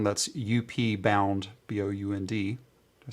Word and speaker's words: Upbound: again over on the Upbound. That's UP Bound, BOUND. Did I spell that right? Yeah, I did. Not Outbound. Upbound.